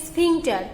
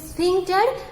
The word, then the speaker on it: sphincter: The pronunciation is sphincter. Okay, this is sphincter.